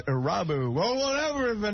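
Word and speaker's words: Irabu: Hideki Aruba. I think the proper pronunciation, Harry, is Arabu.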